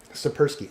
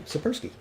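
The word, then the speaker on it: Tsipursky: And it's Sapersky. Sapersky. Oh, thank you, Sapersky.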